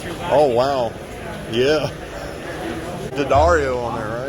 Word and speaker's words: D'Addario: I found out, I always called it D'Addario, but I guess D'Addario themselves say it's pronounced D'Addario.